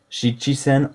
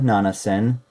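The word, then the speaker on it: 七千: and then the rest is just golsan dokusen shichi sen or Nana Sen kusin and then to say the largest number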